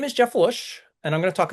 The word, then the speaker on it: Luszcz: So, my name is Jeff Luszcz. Lots of Z's there. It's pronounced Luszcz.